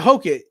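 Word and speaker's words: Hokit: Hokett? Our boy. That's my boy. If it's not our boy, it's my boy. Yeah. How Right. do you pronounce his last name? Yeah, Hokett.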